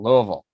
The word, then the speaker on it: Louisville: Got to say it right. Louisville. That's right, Louisville. So I apologize to anybody. It's got to kind of guttural Louisville.